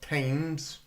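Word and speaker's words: Thames: Oh, by the way, it's also not tames. Much love to all Americans. But it's not the river Tames. It's the river Tames. T M S if you were to do it phonetically. Tames. The river TS. It's not Tames.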